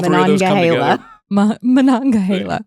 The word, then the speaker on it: Monongahela: Now that you say that, I look at it and it's like, well, that's exactly how it's spelled. So Monongahela. Monongahela. Yes. So all three of those come together. Monongahela.